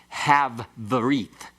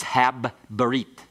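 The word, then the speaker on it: הַבְּרִית: So it's not have berit, it's hab berit.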